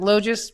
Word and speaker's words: Logis: Is it Logis, Rich? You said it right, Logis.